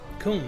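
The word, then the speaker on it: Coomb: Kum, that's how you say it.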